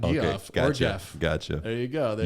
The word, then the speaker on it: Geoff: how would you pronounce GEOFF? G off. GF. Yeah, it's not Okay. Geoff or Gotcha. Jeff.